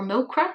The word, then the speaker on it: MoCRA: And I'm wondering how that's going to fare for them in the long term, just with things like MOCRA or MOCRA, depending upon what way you want to pronounce it.